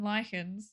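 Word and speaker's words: lichens: Are you an enjoyer of looking at mosses and lychans when you Am I saying it right?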